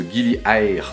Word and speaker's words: Gili Air: De Gili Air, c'est comme ça qu'on prononce.